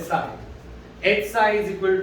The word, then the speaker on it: psi: psi की का symbol है, स्पेलिंग psi तो तुम बोलते वक्त psi बोल सकते, ठीक है, पर इट्स एक्चुअली उसका सिंबल है साई, एच साई is equal to ई साई।